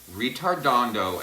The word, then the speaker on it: ritardando: were so fond of do not laugh when I say the word okay because it sounds like the word that's not a nice thing to call somebody okay this word is Italian